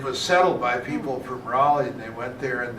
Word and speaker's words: Raleigh: kind of rooted here in Raleigh because Pat's grandmother, for example, went to Emeritus